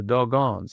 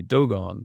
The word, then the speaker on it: Dogon: the dogons. He mispronounced what we now know is should be dogone. He thought that was quite funny, the the the dogons, that dog on tribe.